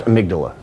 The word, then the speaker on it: amygdala: It's pronounced amygdala. Amygdala. Come on, get it right, man.